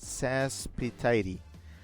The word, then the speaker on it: Saspetite: impossible to know, but my username is pronounced Saspetite. Tidy, okay, got it. Now I know. I've been there. I've been there in the terms of like things people don't know how to pronounce. And boy, you know, as a streamer, one just like messes that up all the time. Tidy, okay. Chip says rhymes with Aphrodite.